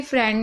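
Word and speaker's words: friend: तो आप लोग कंफ्यूज हो जाएंगे कि भाई फ्रेंड में आई ई को ए क्यों पढ़ा जा रहा है।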